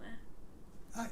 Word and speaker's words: ye: We see written in touristy villages, ye oldie sweetie shoppy, but it would have been pronounced the old sweet shop because Y was pronounced the.